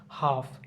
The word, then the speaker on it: half: খাম, CALM, এখানে উচ্চারণটা মানে এলের উচ্চারণটা থাকতেছে না। খাম। খুদ, খুদটা আমরা পারি। Folk, folk, FOLK, folk. হাফ, HALF, farm, farm.